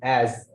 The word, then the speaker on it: as: s එක z වගේ is as හරි මේ විදිහ එහෙම.